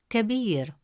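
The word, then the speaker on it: كبير: Second example, the word kabir. In the word kabir meaning big, the letter ba has a kasra vowel which gives it a short e sound pronounced as b.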